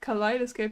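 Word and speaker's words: kaleidoscope: might confuse you but it's just collidoscope I guess it's like height it's the same e and i as height which is the same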